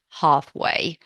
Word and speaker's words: halfway: Make sure there is no L in half halfway in either British or American version. Well, the American version would be halfway, but there is no L in the pronunciation.